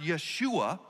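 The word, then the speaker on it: ישוע: the hebrew word or the hebrew name joshua is actually pronounced yeshua and that yeshua a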